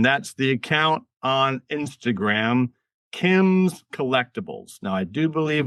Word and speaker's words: Kyms: And that is spelled Kyms Collectibles. So KYMS Collectibles, plural, just the way it sounds, all one word, no dots, no underscores or any of that.